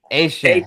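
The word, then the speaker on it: Etienne: The new pronunciation, yes, not Devon A-Chain. This is Travis A-Chain. Yeah, or for those. I put it on the ticker. I know. at 17. Yeah, for sure. A-Chain. Yes, the Cajun pronunciation, the Cajun French way.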